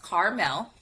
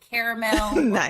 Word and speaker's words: Karmel: do I do so my name is pronounced Carmel with the two syllables but you know sometimes people depending on their accent and if they're just reading it too fast we'll go caramel caramel which is all yeah